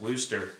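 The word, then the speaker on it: Worcester: autism channel so we do try to It's pronounced woster the lone Wanderer said can we just call it Worster sauce is that I don't have anymore I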